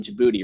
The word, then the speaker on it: Djibouti: million dollar facility in Djibouti right Jim booth in the day the D is silent phrase I can't I